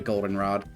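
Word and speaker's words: Goldenrod: Golden Rod accent on the O.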